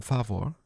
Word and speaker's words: Favor: Before it became favore as it's pronounced in German, Shetszine was founded in 1909 in violet the river rin as Germany's first producer of raw pocket watch movements.